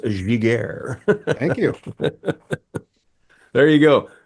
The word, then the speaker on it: Giguère: And if you're wondering, folks, it's pronounced Giguère.